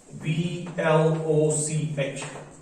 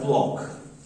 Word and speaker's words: Bloch: उसका नाम था फेलिक्स, BLOCH, ठीक है। और this is pronounced H ब्लॉक, ठीक है, pronounced H ब्लॉक, BLOCK, ब्लॉक। So no need to pronounce it as bloch, ठीक है, bloch sounds bad, है ना।